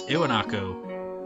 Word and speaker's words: Iwanako: It's Iwanako. Iwanako. I find that kind of weird. It's an I if you spell it out in Romanji, but it sounds more like an E, doesn't it?